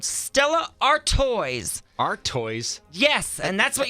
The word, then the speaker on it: Artois: They changed the pronunciation to make it sound fancy. But if you look at it, the spelling is A-R-T Ois. Ois? So they wanted to spell the toys T-O-I-S. So it's A-R Toys.